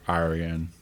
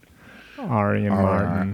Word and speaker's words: Orion: my name is like Arian Aran ar ar that's how I say my name someone's like what's your